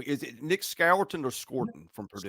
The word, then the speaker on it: Scourton: Is it Nick Scourton or Scorton from Purdue? Scorton. Just Scorton.